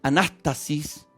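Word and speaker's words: ἀνάστασις: explicarles que significa resurrección es una palabra griega que se pronuncia anástasis y que define como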